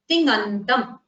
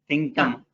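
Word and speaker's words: तिङन्तम्: You don't pronounce a gakara in between. There is no ga. It is just a tingantam. You produce the nasal sound for na and then go on to pronouncing nakara.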